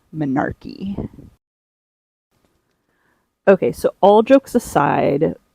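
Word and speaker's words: menarche: My grandma used to pronounce it manarch, but it's actually manarchy.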